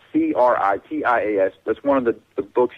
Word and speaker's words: Critias: People who know this have researched Atlantis, but Critas, I can't say it right, Critias.